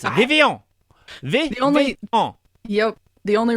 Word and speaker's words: Vivillon: It's French, Vivillon. Yeah, that's And what I people are thought like, too. People are like, it's Vivillon. I'm like, no, it's not. It's Vivillon.